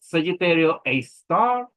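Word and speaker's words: Sagittarius A*: Sagittarius A is star abbrevated Sagittarius a star and it usually pronounced s a star s a star.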